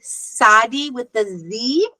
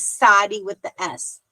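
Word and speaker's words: צדי: Either they say TS or TZ. And the only difference again is pronunciation. Sephardi tends to say Sadi with the Z, and old Ashkenazian type European New York is Sadi with the S.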